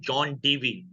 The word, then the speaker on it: John Dewey: Exact pronunciation John Dewey.